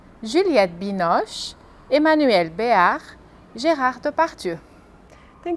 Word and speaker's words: Juliette Binoche: E algumas atrizes famosas, como Catherine Deneuve, Brigitte Bardot, Audrey Tautou, Juliette Binoche, Emmanuel Béart, Gérard Depardieu.